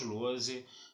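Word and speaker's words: Lohse: Lembrando sempre que o meu canal no YouTube é o Lose, tá? Lose se escreve L-O-H-S-E, se escreve com Z.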